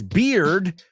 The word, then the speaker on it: beard: And Open Water says beard rhymes with cleared.